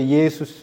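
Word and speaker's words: Ἰησοῦς: 이게 이제 신약 성경은 헬라어로 쓰여졌기 때문에 예수, 헬라식 발음으로 예수스 이렇게 발음하는데요. 이스라엘 사람들, 히브리 사람들이 발음을 하면 이 단어를요, 뭐라고 말하냐면 예슈아, 여호수아 이렇게 발음을 하는 겁니다.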